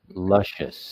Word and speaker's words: luscious: silent vowels here so we're gonna say the us part lush not us delicious not right not